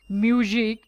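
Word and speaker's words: music: নেক নেক break mistake মিউজিক মিউজিকের শেষে সি আছে এর জন্য এটা কয়ের মতো হবে মিউজিক ক্যান্টনমেন্ট ক্যাপ্টেন কলেজ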